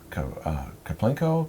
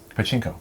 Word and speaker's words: Pachinko: So this is based on, is it Kaplinko? How do you say it again? Pachinko.